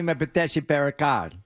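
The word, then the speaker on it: Mpetshi Perricard: How do you pronounce that last name? Giovani Metes Perkar.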